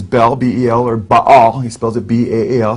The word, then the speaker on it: Baal: It's a combination of Jehovah, Baal, and Osiris.